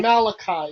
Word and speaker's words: Malachi: The book of Malachi, or as most Jews pronounce it, Malachi.